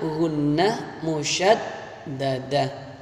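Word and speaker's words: ghunnah musyaddadah: Kalau ada nun tasydid atau mim tasydid, maka cara membacanya dibaca mendengung. Namanya gunnah musyaddadah.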